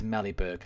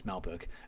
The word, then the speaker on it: Melberg: Here's Mellyberg. I'm joking. It's Melberg.